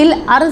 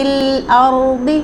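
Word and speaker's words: الأرض: بھی نہیں پڑھیں گے، کیونکہ یہ دال اور زا نہیں بلکہ ضاد مستعلیہ لیٹر ہے، اس کا اپنا مخرج ہے، اس کی اپنی ادائیگی ہے، ٹھیک ہے، اس کو درست تلفظ کے ساتھ پڑھیں گے، فی الارض وإلیہ تحشرون۔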